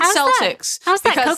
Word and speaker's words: Celtics: the it's Boston Celtics the way that's the way that people pronounce it but if you're talking about anything other than the the basketball team it's Celtic she had a I